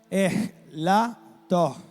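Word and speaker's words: ἐλαττόω: Entonces, aquí donde dice que yo mengue, traduce el verbo griego elato, pero se pronuncia elato.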